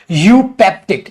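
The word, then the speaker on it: eupeptic: भाई अगला वर्ड हमारा यूपेप्टिक इसे बोलते हैं यूपेप्टिक ई साइलेंट है यूपेप्टिक सर यूपेप्टिक का मतलब क्या होता है?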